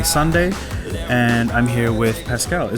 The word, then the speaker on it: Pascal: It's a Sunday, and I'm here with Pascal. Am I pronouncing it right? Yes, you're right, Pascal.